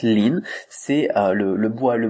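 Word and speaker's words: 林: mouou par exemple mais au final ça se prononce lin c'est le le bois le bosquet voilà pourquoi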